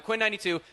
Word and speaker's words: Quinn XCII: It's extremely hard to pronounce his name correct the first time. Quinn92, thank you so much, man.